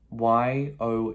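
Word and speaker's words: 有: means to have okay that's um y o u and that again is that third tone that v tone a little bit difficult a little bit tricky okay yo okay i have we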